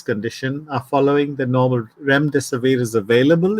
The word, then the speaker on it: Remdesivir: believe it's in Jim, correct me if I'm wrong, my pronunciation, Rumsfedil, the drug? Remdesivir. Yeah, Remdesivir.